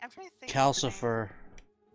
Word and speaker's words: Calcifer: He's saying it right. Okay. Yeah, because I don't know why it reminds me of Lucifer.